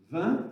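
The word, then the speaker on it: vingt: Du genre 20, vous savez que 20, ça se prononce 20, c'est un localisme de dire 20, le T ne se prononce pas, mais le G non plus.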